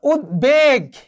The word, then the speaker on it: উদ্বেগ: যেমন ধরো উদ্বেগ, এখানে ব ফলার উচ্চারণ হয়েছে।